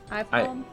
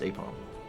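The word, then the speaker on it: Aipom: the ball, but that's Isn't it Ipom? No, I think it's pronounced Apom.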